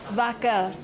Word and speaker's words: vacker: then in Swedish it's "vacker" - va-cker.... vacker.. that's cow in English! - yeah it sounds like that earlier it's "ruma" "antik"